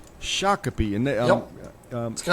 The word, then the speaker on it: Shakopee: That's it's pronounced Shak- Shakopee. Shakopee and that um It's got an Indian heritage.